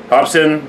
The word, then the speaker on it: Hopsin: No, I said Hospin. Something. Hospin or some shit. Yeah. I added an S in the fucking right after the O.